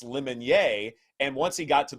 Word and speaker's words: Lemonnier: But back when I covered Auburn, there was a defensive player called Corey Lemonnier. And Gene Chizik, his head coach, kept calling him Corey Lemonier.